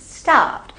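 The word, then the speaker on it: starved: स्टार word, आर इसमें silent है, तो आई एम फीलिंग स्टार्व्ड, मुझे भूख लग रही है।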